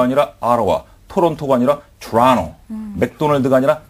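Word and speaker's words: Ottawa: 그런 표현들 그리고 고유명사 조금 전에 우리가 봤지만 오타와가 아니라 아라와 토론토가 아니라 토론토 맥도날드가 아니라 맥도날드 이런 고유명사까지도 잡아두셔야 됩니다.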